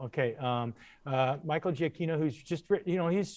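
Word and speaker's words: Giacchino: and michael you know is that how you say it it's g aquino gio kino okay um uh michael jacquino who's just you know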